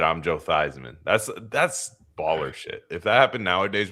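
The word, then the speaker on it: Theismann: So your name his name was Joe Thesman. That's how he used to say his name when he was at not at Notre Dame. Yeah. Yeah. Crazy. And he said I'm Joe Thyman.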